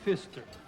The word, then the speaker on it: Pfister: Jerry Pfister. The P is silent.